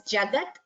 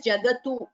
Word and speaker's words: Jagat: 42nd verse, the last word is Jagat. It is not pronounced as Jagatu, no. I have heard certain chantings where it's the U is heard, but like I've said this before, Jagat, it is a halanta, that is, it is